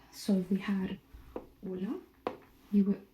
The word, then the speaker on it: hola: And H is silent. So if we had hola, you would pronounce hola, not hola, right?